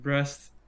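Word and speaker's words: Brest: small apartment in a city named breast breast that's how you pronounce it in France and from there it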